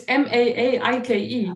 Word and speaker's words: Maaike: It's MAAIKE. Oh, because sorry, you're maike. It's got that Yeah. little like But waver. Sorry. Yeah. my last vowel is silent. It's like schwa.